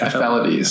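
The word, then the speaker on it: ephelides: Aphelides. Aphelides is how you say it, aphelides.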